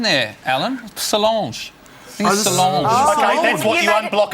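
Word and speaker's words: Solange: successful sister name Beyonce is an awesome name Sange is what you unblock a toilet you want to have a look at your pronunciation there Alan Salange Sal that's what you unblock a bday with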